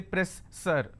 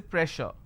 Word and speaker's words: pressure: is pressure just because I have two s I can't say press sir I can't say press sir so here SS will become sure sound so I say pressure alright so you need